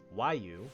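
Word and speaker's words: Roaille: post-game and watching cutscenes for Realm Reborn, was Waiu, which is spelled R-O-A-I-L-L-E.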